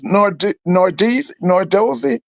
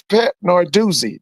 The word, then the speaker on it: Narduzzi: So you go back up there and ask, I think his name is Nordizzi, Pat Nordizzi. I might be mispronouncing his name. But the head coach at Pittsburgh is Pat Narduzzi.